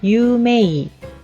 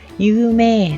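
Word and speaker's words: 有名: 자, 유명하다 라고 할 때 유메이 라고 발음하지 않죠. 유메 라고 해서 장음 발음으로 끌어준다는 거.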